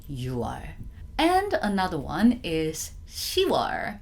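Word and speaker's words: 유월: of two exceptions so there are two specific ones that we actually pronounce differently which is the June which is you are we don't say you quo it's you are you call it I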